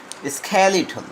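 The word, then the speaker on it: skeletal: Throw the স্ক্যালিটল, এইটার উচ্চারণ হচ্ছে স্ক্যালিটল। উচ্চারণটা তোমরা জেনে নাও, স্ক্যালিটল ফিগার্স।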